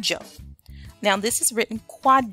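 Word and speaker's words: Kwadwo: Ghana your traditional African name would be called Joe now this is written quad Joe and I'll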